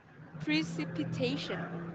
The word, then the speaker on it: precipitation: Nó sẽ có 5 âm tiết ạ. Và mình sẽ nhấn vào trọng âm thứ tư. Trọng âm thứ tư, yes, of course, trọng âm thứ tư ạ, là precipitation.